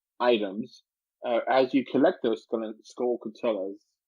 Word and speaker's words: Skulltula: And, as you give him items, as you collect those Skullcutillas, how do you pronounce that? Skulltula?